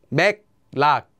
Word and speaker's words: 맥락: Anytime the first syllable ends with a 기역 sound, and the second syllable begins with the consonant 릴, the 기역 will become pronounced as an 이응, just like it would with our example of 한국말. And the 릴 will become pronounced as a 니은.